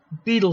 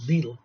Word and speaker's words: Bedell: b smith that's uh beetle smith they called him b and spelled bedell but they pronounced it beetle were preoccupied with the